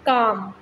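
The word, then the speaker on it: calm: Word is काम. काम में यहाँ पे एल की आवाज़ नहीं आती, एल साइलेंट है.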